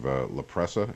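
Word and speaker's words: La Presa: of dictionary Hill there's a little community of laprea is how you pronounce it across the Coronado Bridge the 53rd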